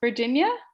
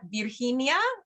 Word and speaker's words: Virginia: And I think in Spanish, they pronounce Virginia, Virginia. ¿Verdad, Janela?